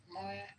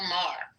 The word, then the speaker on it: Maher: Moyer. Saying he's a racist. Bill Maher.